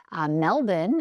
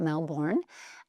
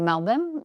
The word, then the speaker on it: Melbourne: From there, we're going to go to Melbourne, as I have now learned it is pronounced, not Melbourne. So we're going to go to Melbourne.